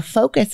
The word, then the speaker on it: focus: guide would say the focus of something but he pronounced Focus as it rhymed with Ruckus and you can put